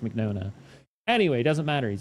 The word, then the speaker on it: Mignogna: I'm pretty sure it's Mignogna. Mignona. I think it's pronounced Mignona.